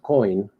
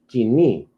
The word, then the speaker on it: Koine: So it's not coin, it is kini.